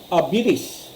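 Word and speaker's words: habilis: It comes from the Latin word abilis, easily handled.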